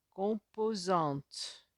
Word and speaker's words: composantes: deuxième ligne qu'on présente composantes composantes avoue composantes le m devant le p se prononcent eux n composantes à vous tout